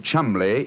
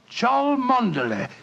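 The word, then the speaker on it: Cholmondeley: Being an American, he had no reason to know that the name Chumley is in no way pronounced the way it is spelt.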